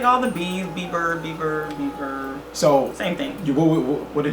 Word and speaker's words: Bieber: But Justin Bieber, he was the winning. Did I say it right this time? Let me say it one more time. Justin Bieber.